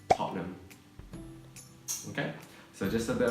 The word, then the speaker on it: Tottenham: And it's not Tottenham, it's Tottenham.